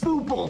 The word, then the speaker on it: Bopl: situation up here in BO Town also the game is pronounced as Bo not b as I learned from uh